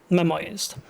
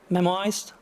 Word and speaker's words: memoized: I mentioned before that they are memorized is that the correct pronunciation of this word memoized memoized okay cool thank you so um